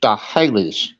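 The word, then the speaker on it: Sts'ailes: The name of the tribe was STS apostrophe AILES, but it's pronounced Stahales instead of what you would think, you know. The other S, the STS turned into Sta and then Hales.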